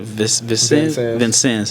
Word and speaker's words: Vincennes: when I first heard it how do you pronounce it Vincennes yeah so that's when I first heard of